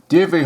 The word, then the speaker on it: Dierve: About the artists: Dierve Holthuizen, wildlife, sea and landscape artist. Dierve, pronounced Dierve Holthuizen, was born in Holland and immigrated to Rhodesia in 1957.